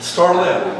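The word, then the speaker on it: Scarlyn: Starlin. So No, accent, first syllable.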